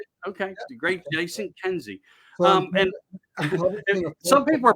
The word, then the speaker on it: Kenzie: from the great jason how do you really pronounce your last name i want to say it right okay great jason kenzie um and some people are probably asking and